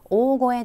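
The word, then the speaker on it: 大声: "Ogoe de" 는 큰 소리 로 말 한다는 뜻 입니다 . 이것 의 발음 에 도 특히 주의 를 기울여 주시기 바랍니다 . 이것 은 "ogoe" 로 읽힙니다 .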